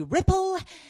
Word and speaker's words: Ripple: So, my name is Ripple, rhymes with tipple, and I am what's known as a fashionably menopausal comedian, which makes me the hottest woman in the room.